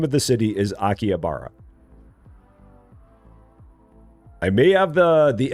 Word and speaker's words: Akihabara: Yeah, the name of the city is Akiabara. I may have the the emphasis on the wrong syllable, but that is pronounced Akiabara.